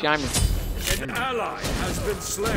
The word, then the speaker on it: Ymir: They're wrong because it's Ymir. Tower is under attack. No, it's not. Because the way that it's pronounced is the way that they make it in their country, it's Yimer.